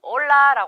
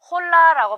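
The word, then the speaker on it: hola: 이렇게 인사를 하죠 스페인어로는 올라라 합니다 자 이때 발음 하실 때이 아체 부분이 묵음이 그요 홀라라 발음하지 않고 올라라 얘기하는 거죠 그래서 여러분 절대 발음하게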